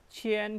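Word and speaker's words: 前: Oke, ingat kian di sini dibaca. Jadi chien chen.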